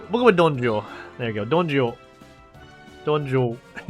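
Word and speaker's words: Dong Zhuo: Donjo. We'll go with Donjo. There you go. Donjo. Donjo. It's a ZH plus the Jo.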